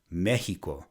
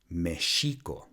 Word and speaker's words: Mexico: the mispronunciation of the x is the word mexico which should be pronounced Michiko so if you live in the state of